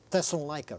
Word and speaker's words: Thessalonica: Do you say it? Thessaloniki. I like that better. Thessaloniki. I'm not sure how they say it over there now. Yeah. It may have been, you know, modernized to be Thessalonica. Because that's what everybody from the West calls it.